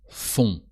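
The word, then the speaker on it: font: often have the sound fun o n t and the t is silent and now what about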